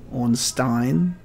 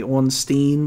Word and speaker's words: Ornstein: in english we say ornstein but it's on stein because it's not double e and it's e-i-n just to the to